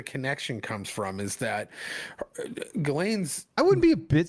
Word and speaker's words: Ghislaine: And I think it's actually pronounced Ghislaine. Ghislaine.